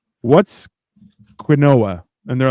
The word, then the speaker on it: quinoa: That's quinoa. They're like, no, it's quinoa. I'm like, no, it's not. You're pronouncing it wrong.